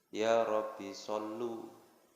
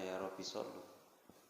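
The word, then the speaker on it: يا ربّ صلّ: Allahumma sholli ala Muhammad ya Robbi Sholli Alaihi Wasallam ini saya denger ini salah denger atau memang bacanya yarobisoli diulangi lagi Allahumma sholli ala Muhammad ya Robbi Sholli uh volume Nah berarti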